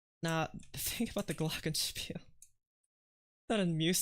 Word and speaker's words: Glockenspiel: Glockenspiel. That's how you pronounce it.